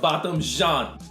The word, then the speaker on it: Botham Jean: Yeah, Botham Jean.